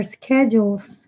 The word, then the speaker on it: schedule: of American States their schedules can be classified as inter indeterminate schedules is the American pronunciation because in British English they say schedule K their schedules not in American English and I know Kevin